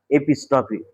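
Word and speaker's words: epistrophe: দেখো দুটো কিন্তু উচ্চারণের একটা ব্যাপার আছে এবং স্পেলিং এরও ব্যাপার আছে। আমি প্রথমে যেটা বুঝিয়েছিলাম সেটা হচ্ছে এপিস্ট্রফি। আর এখন যেটা বুঝাচ্ছি সেটা হচ্ছে অ্যাপোস্ট্রফি।অপোস্ট্রফি বলতে কি?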